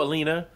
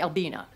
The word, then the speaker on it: Albina: Are you Alina? I'm not. What does that mean? It means you said it wrong. My name's actually Albina.